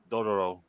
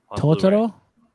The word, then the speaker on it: Dororo: Dororo came out this week, the complete collection edition. Totoro?